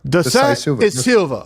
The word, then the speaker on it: Da Silva: How do I pronounce it? You did it very well. Da Silva.